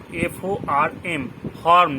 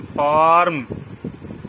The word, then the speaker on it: form: যেমন FORM, ফর্ম, যেটাকে আমরা বলি ফর্ম, আসলে সেটা নয়, ফর্ম। ফর্ম মানে আরটা উজ্জ, ফর্ম।